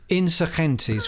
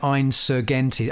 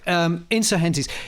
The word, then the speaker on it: Insurgentes: You're pretty close. It's It's Insurgentes, which is the the Spanish I I I did a lot of interviews around the time Spanish for "vertical complexity"? Guess what it's Spanish for. No, but I remember doing interviews at the time and being interviewed by American DJs, bless them, and they were pronouncing it Insurgentes. Insurgenies. Anyway, Insurgentes.